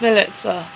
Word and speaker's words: Milica: actually supposed to be it's milita like melissa but with a ts instead of an ss or whatever i'm foreign but not